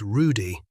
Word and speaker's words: Rudy: Their waiter is an old man named Rudy. He pronounces it with a rolled R, one of the old country waiters who wear short black jackets over long white aprons.